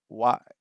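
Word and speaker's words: は: konbanwa, konnichiwa, and how it's actually written as ha, but it's pronounced wa when it's used as a subject.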